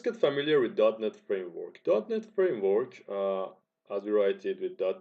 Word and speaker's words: .NET: course so let's get familiar with NET Framework NET Framework uh as wred with net and pronounce it like net is a software framework